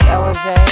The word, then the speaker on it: Ellijay: Pronounced Ellijay and not Ellijay. Hello everybody, welcome to our channel Gravley RV Life, aka GRV Life.